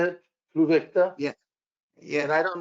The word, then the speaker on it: Pluvicto: And I'm Jim, starting the Provicta. Is that how you say it? Pluvicta?